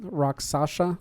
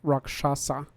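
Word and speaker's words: Rakshasa: said it right pasa a lot of people I say have trouble saying it because they expect to say rocks Sasha or something but raksasa yeah when Tiger faced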